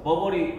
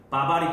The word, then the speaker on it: 버버리: 그래서 그 코트가 전부 다 어디 회사 거여서 버버리 회사 거여서 우리가 그걸 버버리 코트라고 부르는데, 그게 우리나라에 처음 들어올 때 발음이 와전돼가지고 버버리 코트가 우리가 뭐라고 불리는? 바바리 코트라고 불리는 게 됐던 거지.